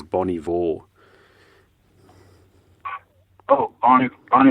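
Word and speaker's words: Bon Iver: Fire from Canada and Bonnie Vore or bon bon we call it Bon IA but I think the band likes to be referred to as Bonnie Vore oh bon bon H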